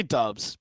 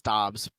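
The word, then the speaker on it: Doubs: to say his name I I say dubs but it's dobs but I don't know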